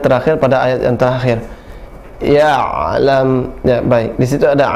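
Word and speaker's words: يعلم: Suara ain ada suara tawassut atau bainiyah, tidak dia syiddah, tidak dia rakhawah, tidak tertahan suaranya, tidak juga mengalir, tapi pertengahan, ya. Tidak boleh malam ya'lam, tertahan, ya. Tidak boleh juga malam ya'lam, tapi pertengahan. Malam ya'lam ditekan, ya, langsung ditarik kembali atau dilenturkan, ya.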